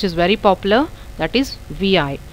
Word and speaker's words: vi: So I am typing the command vi, which stands for visual editor. It can be pronounced as vi, and the editor will be opened like this.